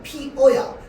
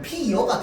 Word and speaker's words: 피어: 자, 그래서 꽃이 피어 있다라고 하면 이 피어는요 발음상 원칙 발음은 피어야. 근데 얘를 빠르게 발음하면 피여가 될 수밖에 없어. 알겠죠? 그래서 피어로 발음하는 게 원칙이지만 얘를 허용하거든요.